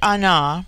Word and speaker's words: Ana: the word Ana pronounced broadly on corresponds with our plural men on the singular with man the word for woman